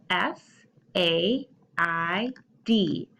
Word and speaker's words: said: said has the but then there a I makes a short e sound so when you hear